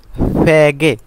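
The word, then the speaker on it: 베개: চুল শুকাতে যে একটা হাওয়া মারে সেটা তারপরে ফ্যাগে ফ্যাগে অর্থ বালিশ ফ্যাগে বালিশ ফ্যাগে বালিশ বিয়োগ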